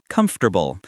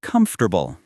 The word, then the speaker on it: comfortable: Comfortable. Many natives say comfortable.